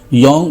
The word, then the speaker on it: Jung: योंग बहुत से जाहिल इसे जंग पढ़ते हैं, और कुछ जोंग जिन्हें काबिलियत का हैज़ा हो जाता है वो जोंग पढ़ने और लिखने लग जाते हैं।